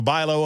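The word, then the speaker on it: Bi-Lo: They don't spell it the way that it sounds.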